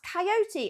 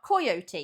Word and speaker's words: coyote: Why is it pronounced coyote and not coyote? Because it looks like it should be pronounced coyote.